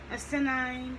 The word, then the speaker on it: asinine: Asinine, that's what they all wore, with an emphasis on the first syllable.